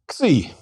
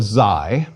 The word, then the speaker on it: Xi: Xi. Some call it Xi, but I prefer Xi.